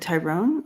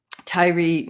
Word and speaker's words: Tyree: thank you is it is it Tyrone or Tyree uh anyway um Tyree Nichols yeah thank you Deb so I was saying it right I I anyways I